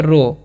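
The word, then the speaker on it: row: उ से लिखा हुआ आर ओ डब्लू तो इससे हम लोग क्या पढ़ते हैं रो रो मतलब क्या होता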